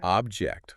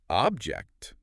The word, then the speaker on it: object: Object, first syllable stressed. It's a thing, right? But object, second syllable stressed, it means to disagree.